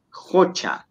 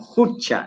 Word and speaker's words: jucha: letra que está aquí, la vocal U, pues se pronuncia relativamente abierta, ¿no? Es Jocha. No es tanto como Jucha, ¿no, Panichay? Es Jocha. Se escribe Jucha. Se escribe Jucha. Claro. Y se pronuncia entre una U y una O.